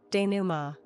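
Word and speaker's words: dénouement: Duma nasalized n silent t the unraveling or resolution of a plot as of a novel or a drama.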